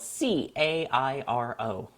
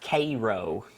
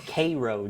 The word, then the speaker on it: Cairo: my favorite is uh there's a city spelled c a i r o oh no Cairo no it's pronounced kro what thein what I I learned that very quickly that it's Koo Georgia which the worst of when I was